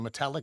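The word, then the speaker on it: Metallak: the chair did you say it's uh the metallic ATV Club yes and I apologize for my pronunciation but so everybody knows in my own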